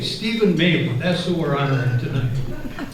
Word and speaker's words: Mealey: It's Mealey, like mayfly, like M-A-Y-L-E-Y. Mealey, Stephen Mealey, that's who we're honoring tonight.